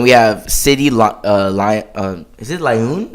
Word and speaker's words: Lyon: Is it Lyon? How do you say it? Leon.